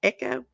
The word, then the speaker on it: Ekko: girlfriend 26 year old ekko butler is how you say that echo investigators later identified the